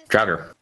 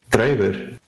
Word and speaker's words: Draugr: Draugr. That's not how you say that. All right, how do you say it? Draugr.